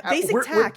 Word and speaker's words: BasicTaq: Is that, am I pronouncing it right? Yeah, BasicTaq.